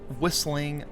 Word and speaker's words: whistling: smelter right here whistling whistling Minds yeah no that's a that that that is a silent T there is oh boy